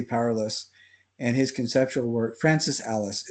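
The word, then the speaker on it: Francis Alÿs: And his conceptual work, Francis Alice is his name, and his last name is spelled Alys.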